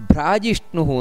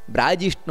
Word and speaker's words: ಭ್ರಾಜಿಷ್ಣು: ಇಲ್ಲಿ ನಾವು ಉಚ್ಚಾರಣೆಯನ್ನು ಮಾಡಬೇಕಾದರೆ ಭ್ರಾಜಿಷ್ಣು ಭ್ರಾ ಮಹಾಪ್ರಾಣ ಬ್ರಾ ಭ್ರಾ ಬ್ರಾ ಜಿಷ್ಣು ಅಲ್ಲ ಬ್ರಾ ಜಿಷ್ಣು ಯಾಕಂದ್ರೆ ಸಂಸ್ಕೃತದಲ್ಲಿ